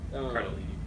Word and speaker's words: Cardellini: Cardellini as Dolores. Yep. Cardellini.